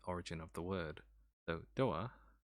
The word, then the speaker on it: Doa: of the word though doa comes from the japanese pronunciation door and then both the